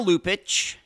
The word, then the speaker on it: Lupaca: and now a summary of the case Tatiana lupic yep that's how her last name is pronounced anounced was born in lvia when it